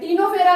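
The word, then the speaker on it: Ctenophora: टीनोफेरा में जो सी होती है वो साइलेंट होती है, लेकिन आपको सी यहाँ पर लिखनी पड़ेगी।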